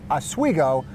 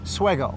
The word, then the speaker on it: Oswego: now asigo is pronounced asigo although the locals if you kind of talk to them quick it's more like swego swego swo that's pretty